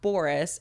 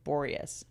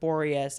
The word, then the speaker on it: Boreas: you say it Boris it's not Boris it has an e in it see Bor borus oh borus yeah borus